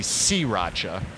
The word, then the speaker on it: sriracha: They say that people are saying sriracha, and I can see that, but I've never heard anybody say that. But they're saying it's supposed to be sriracha.